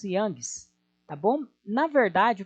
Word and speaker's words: Young: O Youngs, nós pronunciamos Youngs, tá bom?